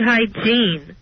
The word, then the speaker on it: hygiene: I have very good hygiene. Hygiene? Yes. Not very good genes, very good hygiene. And not hygiene, it's hygiene. Hygiene. That's the accent on the wrong syllable.